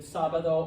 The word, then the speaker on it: sábado: So I learned early on that sábado always had a line over the A, okay. I didn't even bother with rules with like, oh, it ends in a vowel and then that means the second syllable. I just remembered there's an accent on A, okay.